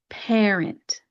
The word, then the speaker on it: parent: Another example is parent. If you look at the spelling, it has P-A-R-E-N-T. So because you have an A and an R, we're going to pronounce that as that air vowel sound, parent, parent.